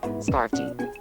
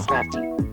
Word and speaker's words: Scrafty: Wait, wait. Say it again. Scarfy. Scarfy. Oh, I see what I did. Okay. Scrap. I put the A before the R. Scray. Okay. I want to see if you'll say it right now. Scrafty. There we go.